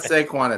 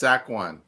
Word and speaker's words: Saquon: It's not Seaquan, it's Saquon.